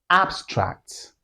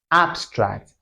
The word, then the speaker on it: abstract: This word can be pronounced in two ways or can be stressed in two ways. The first one is abstract. Abstract, which is an adjective.